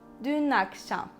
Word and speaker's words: dün akşam: And we need to connect them and pronounce it like this. Dün akşam. Dün akşam.